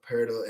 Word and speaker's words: Poeltl: Poeltl, you're right, yeah.